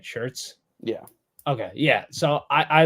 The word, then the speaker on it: Schertz: Schertz?